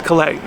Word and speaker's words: Klay: Again, it's Klay. It looks like Cleas or Kis, but the S is silent.